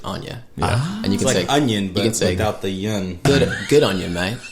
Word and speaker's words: onya: it's just two words so Anya is like a kiwi word it's just o-n-y-a and you pronounce it Anya yeah good on you